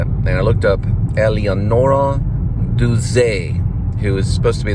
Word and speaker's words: Duse: That was Eleonora Duse. I think that's how they say it. Duse. Some say Duse.